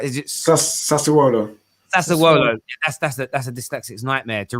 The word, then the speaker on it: Sassuolo: How do I pronounce it right? Is it Sassuolo? Sassuolo.